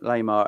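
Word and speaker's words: Laimer: Lamar.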